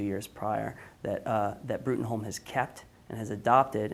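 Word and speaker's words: Bruttenholm: So Trevor Brutenholm, or Broom as it's pronounced, is the head of an organization called the Bureau for Paranormal Research and Defense.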